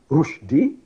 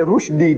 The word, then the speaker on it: Rushdie: His name is Salman Rushdie. That was the name. Salman, name of the Sahaba. Salman Farsi, his father gave him. And Rushdie, see, Rushdie should be spelled rightly the way we pronounce Rushdie, R-O-O-S-H.